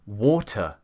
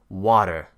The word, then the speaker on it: water: a D is because when Americans have a T that's got two vowels either side, they will pronounce it as a D. For example, we say water in England, but an